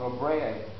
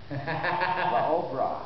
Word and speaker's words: La Obra: You got to say it right. Thank you for me. I keep calling La Brea, and he keeps kicking me and pulling people's bras. La Obra.